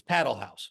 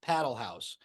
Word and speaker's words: Padel Haus: New York and I asked him specifically it's paddle house so you and I were at a we